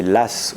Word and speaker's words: Law: fin du 17e siècle celui dont le nom de famille s'écrit law qu'on peut prononcer l'ASS ou bien est un